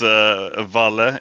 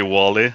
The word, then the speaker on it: walle: Yeah, it's Walle in Swedish, obviously. And there was a lot of mispronunciation of my nickname. It was usually Wally. And I think sometimes I ended up saying it myself too. And that was also partly because the movie Wally.